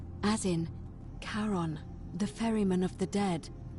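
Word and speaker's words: Charon: It's just as you described it, only your pronunciation is a little off. The name you heard wasn't Karen. It was C H A R O N. As in Karon, the fairerryyman of the dead. Karon, who in exchange for the right coin, helps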